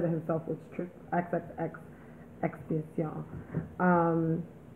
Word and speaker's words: XXXTentacion: Cause I used to just say Extension, but I guess it's when I watched the video, he said it himself, was XXX Extension.